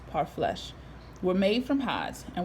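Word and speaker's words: parfleche: their food and clothing part flesh pronounced part flesh were made from hides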